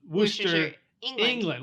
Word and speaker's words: Worcester: it's just pronounce Worcester kinda like rooster with the W said so anyway this guy